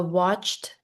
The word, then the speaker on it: watched: A watched pot never boils. Notice the ed sound is a T with watched, not watched, watched.